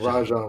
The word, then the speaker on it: Rajon: was like, why don't you pronounce the J? And you do pronounce the J. It's a soft J. And Rajon Rondo's is because the nigga ain't got a J in him.